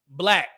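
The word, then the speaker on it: 6LACK: This situation reminds me of a verse from the R&B singer Black. It's spelled 6 lack, like it has a 6.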